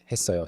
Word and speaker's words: 했어요: And then lastly, 했어요, the double 시옷 carrying over to the next syllable, 했어요.